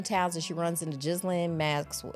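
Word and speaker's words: Ghislaine: and she runs into Jizlin Max. Is it Glenn? Maxwell. I always feel like I'm saying it wrong. So, she wants to uh Glenn, that's how you say it.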